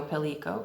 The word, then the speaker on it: Pellico: It's named Pelikova Street after Silvio Pellico, who was imprisoned at Spielberg. And so we would pronounce it with a hard C, because it's the same way that we don't pronounce Tesco as Testso, right?